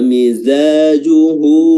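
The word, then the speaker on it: مِزَاجُهُ: Wa mizajuhu min tasnim. Ya, wa mizajuhu ya, za di sini makhrajnya adalah ujung lidah bertemu dengan gigi seri bawah za. Panjangnya 2 harakat saja, mad tabi'i juhu hanya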